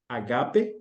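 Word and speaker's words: ἀγάπη: Agape, é a pronúncia certa, e o outro usou a palavra grega que descreve a ideia de amizade, amor de amigo, né?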